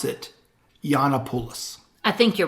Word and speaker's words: Gianopulos: it the same but the G is not a hard G it's a y it's so you're